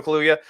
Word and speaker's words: Kaluuya: And especially the way that it was done by Daniel Kaluuya. Is that how you pronounce his name? Yeah, Daniel Kaluuya.